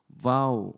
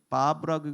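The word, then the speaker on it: וָו: 이게 이제 와우. 이게 바브라고 하기도 하고 와우라고도 해요. V 발음이에요.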